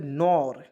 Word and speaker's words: nor: जैसे NOT हम लोग नॉट पढ़ते हैं ना जी, दो कंसोनेंट के बीच में ओ आया तो उसको उच्चारण औ के रूप में करते हैं ना, तो वहाँ भी यहाँ भी दो कंसोनेंट के बीच में ओ आया तो इसका पढ़ेंगे नॉर, ठीक है।